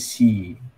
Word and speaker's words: she: Nah, kalau she itu bacanya she. Bacanya she ya, bukan see ya.